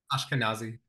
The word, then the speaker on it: Ashkenazi: Ashkenazi.